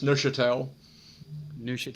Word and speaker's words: Neuchâtel: And I'm here joined today with John Lorraine from Core Resources, and it's Neuchâtel Partners, is how I pronounce that, John, is it? Pretty close, Neuchâtel.